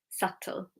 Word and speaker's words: subtle: And then with the T rule, so if it's BT, then the B is silent. We have debt, doubt, subtle. Okay, debt, doubt, subtle. Not doubt or debt or subtle.